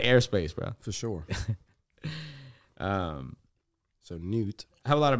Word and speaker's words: Newt: They got this guy, his name's Newt. Newt? Newt. And that's how you say it. N-E-W-T.